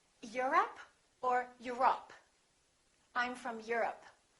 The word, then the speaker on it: Europe: Europe or Europe? I'm from Europe. Don't say I'm from Europe. This is stressed. The O, once again, is reduced. Repeat. Europe.